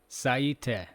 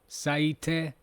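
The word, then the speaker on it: 最低: Seeing this vividly in our mind, let's pronounce with energy. Yoso, yoso, yoso. Then we have an adjective, lowest, saite.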